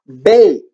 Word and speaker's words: bake: We also have times when it's a magic E, like the word bake. And the A says A because this E jumps, and this E, I'm getting all tongue-tied, guys. This silent E at the end is quiet, but it jumps backwards over one letter, makes the vowel say its name A, its long sound A, and this turns into bake.